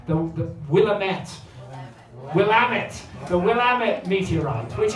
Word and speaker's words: Willamette: the evidence for this is a meteorite the willamette i'm i was told that i don't pronounce this correctly the willamette willamette the willamette meteorite which is a 15-ton